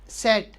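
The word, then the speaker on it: Z: और जेड, जेड को वैसे तो सेट बोलते हैं, ठीक है, लेकिन जब हम प्रोनाउंसिएशन करते हैं ना जेड की, तो कुछ ऐसे है, जैसे सेट, सेट ऐसे निकलता है, तो ये क्या है, सेट।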